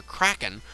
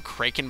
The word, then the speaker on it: Kraken: The Fiend of Water, Kraken, lives on the bottom floor. I always called him Kraken, but I guess it is properly pronounced Kraken.